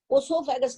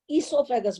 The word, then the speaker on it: oesophagus: ओसोफेगस नहीं बोलते हैं, ईसोफेगस बोलते हैं।